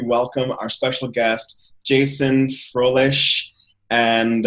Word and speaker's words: Froehlich: June 8th, 2015, and I'm excited to welcome our special guest, Jason Froehlich. And I say his name like the original German way, Froehlich.